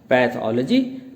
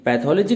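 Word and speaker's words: pathology: इसके बाद है आपका पैथोलॉजी। पैथोलॉजी का प्रोनाउंसिएशन आप देखेंगे जिसमें प अलग है, थॉल अलग है और जी, पैथोलॉजी।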